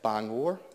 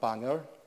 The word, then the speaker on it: Bangor: still get along as their Bangor not banger banger and Bangor and Maine is